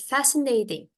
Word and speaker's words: fascinating: Dijawab sama Nora, that's fascinating. Ya, ini bacanya fascinating. Fascinating. Jadi T-nya bukan kayak T Indonesia, tapi agak D gitu bunyinya.